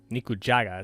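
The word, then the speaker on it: 肉じゃが: Nikujaga is how you pronounce it, because I never heard about that before.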